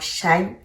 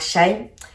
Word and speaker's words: Shein: Aujourd'hui j'ai choisi de prendre la marque Shine parce que c'est une marque accessible à tous et elle est connue de tous.